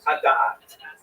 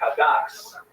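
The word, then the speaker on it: הדת: But it sounds much better if you pronounce it in Ashkenazis, which is ki hakas misalek hadas.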